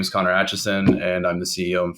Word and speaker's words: Atchison: last name correctly, but is it Atchison, just as it's spelled? Yeah, that's right.